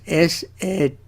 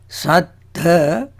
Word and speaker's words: Sattha: See the difference between Satta and Sattha. Satta, S-A-T-T-A. Sattha is S-A-T-T-H-A. When we talk about the Buddha, we use the spelling, when we write it, we use S-A-T-T-H-A and pronounce as Sattha, emphasis on last T-T-H-A. Stress it.